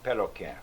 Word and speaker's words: Pelican: Now some of them spells it P-E-L, P-E-L-C-A-N, and some of them spell it P-E-L-Q-U-E. Now Pelican. that would be more in French, huh? Pelquet or something. Yeah, Pelquin? But they pronounce it Pelican.